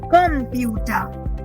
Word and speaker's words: Computer: So even though C gives the sound of say, but still we actually pronounce it as computer.